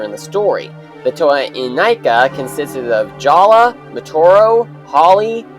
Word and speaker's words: Inika: the new toa the toa inika yes is pronounced inika some people pronounced it as inika but it's inika anyway the toa and nika were first introduced